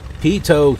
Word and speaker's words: pitot: of even if it's pitot heat Oh like potato pitot heat to remind myself of how it's pronounced I lift it up